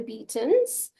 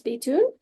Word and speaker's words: Beaton: The English name now is Beaton, but it was the French pronunciation was Betoon. And of course, it changed when they went to Scotland and Ireland as well. The name did change, but it's now Beaton.